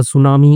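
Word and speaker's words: tsunami: और शाउटेड चिल्लाई अ सुनामी is coming कि टी साइलेंट है फिर से बता रहा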